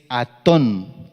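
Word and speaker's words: אתון: El asna, hembra, es Atón, Atón. Está en el Strong número 860 y significa paciencia y docilidad. Se escribe asna, la hembra, se escribe con la Aleph, Tav, Vav y Nun Sofit.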